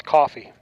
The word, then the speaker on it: Coffee: That's coffee. Coffee, as in I'm drinking. Yes, coffee. That's how I pronounce that, behind the plate.